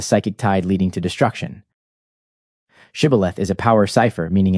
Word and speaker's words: Shibboleth: In Judges, it is recorded that the Israelites were given the password Shibboleth that they might ford the Jordan in safety. When the Ephraimites were required to pronounce the word and they replied Sibboleth, they were swept away.